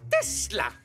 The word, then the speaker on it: Tesla: Ça se prononce Tesla. Nikolai Tesla.